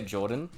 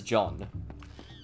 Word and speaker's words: Jordan: but i always say jordan i always say jordan like i say it very fast and everyone hears it as john no but they always